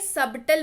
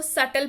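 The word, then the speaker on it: subtle: बट आप please इसको सटल पढ़िएगा। देखिए मैंने यहाँ पे प्रोनाउंसिएशन लिखा है, इट इज नॉट सबटल, इट इज सटल। ये साइलेंट वर्ड वाला कैटेगरी में आता है।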